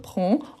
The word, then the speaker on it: prends: terminaison ok donc toujours prend on ne prononce pas le D le S SAF qu'il faut toujours